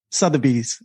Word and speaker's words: Sotheby's: Sotheby's. Sorry, Mo, can you just say it properly for us? Yeah, it should be Sotheby's.